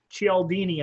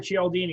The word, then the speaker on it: Cialdini: Okay, there's a book out by Robert Cialdini, I think is how it's pronounced. It's CH or CIA, but Robert Cialdini.